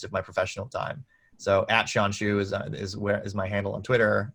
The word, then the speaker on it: Shawn Xu: So @Shawn Xu is my handle on Twitter, and on LinkedIn, you can just search my name and you'll find me.